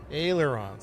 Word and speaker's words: ailerons: Airlines surface something elevators control surfaces ailerons.